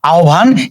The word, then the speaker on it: আহ্বান: এরপরে দেখো আহ্বান, এই উচ্চারণটা আমরা অনেকেই ভুল করে থাকি। আমরা জানি যে হয়ের সঙ্গে যদি ব যুক্ত থাকে তাহলে এর উচ্চারণ হয়ে যায় ও ভ, তাহলে ও ভ হবে, তাই না। এখানে আমরা লিখলাম আ, তারপরে দেখো কি আছে, হয়ের সঙ্গে ব আছে, তাহলে নিয়ম অনুসারে ও ভ হয়ে যাবে।